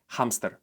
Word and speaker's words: hámster: But there's 1% of words where the letter H is pronounced, and when it is, we do it the same exact way we do it in English.